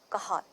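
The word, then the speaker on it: Cajal: cells of spanish name so you have to pronounce it as kahad right interstitial cells of kahal or it is also written as right fine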